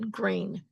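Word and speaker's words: Greene: Well, what's the difference in pronunciation between green with an E on the N and G r E N? No E on the end. They're both pronounced green.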